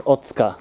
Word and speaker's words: Otsuka: Oh, it's Otsuka. The U is silent.